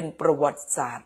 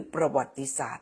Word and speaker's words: ประวัติศาสตร์: เข จะ เรียน ประวัติศาสตร์ ออก เสียง ได้ 2 เสียง นะ ใคร ถาม บอก ว่า ออก เป็น ประวัติศาสตร์ หรือ ประวัติศาสตร์ ไป ดู ใน พจนานุกรม เลย ออก ได้ 2 อย่าง ทั้ง ประวัติศาสตร์ และ ประวัติศาสตร์ นะ คะ ยี่ ผู่ ลืม ไม่